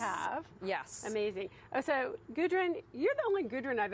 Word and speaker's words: Gudrun: Yes, it is, except it's pronounced very differently in Iceland. So it's pronounced Gudrun in Iceland.